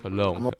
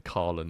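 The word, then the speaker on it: Colón: Cologne. I definitely said his name wrong. I was saying Colin and shit, right?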